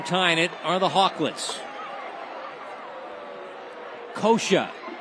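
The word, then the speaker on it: Coca: Kosha, spelled C-O-C-A, pronounced Kosha.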